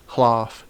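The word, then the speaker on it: hlāf: It's pronounced even before consonants, so Chring, Knutu, Hlaf, and Hwat.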